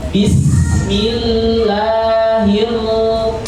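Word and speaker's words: بسم الله الرحمن الرحيم: Jadi ro terulang 2 kali diucapkan dengan tebal. Jadi ro tafkhim ketika berkaitan dengan fathah atau dhamma.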